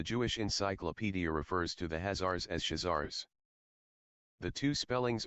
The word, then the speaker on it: Khazar: encyclopedia refers to the hazards as shizars the two spellings are optional according to the best authorities the two are pronounced alike either hazar or shazar is pronounced like the first syllable of costume with the words are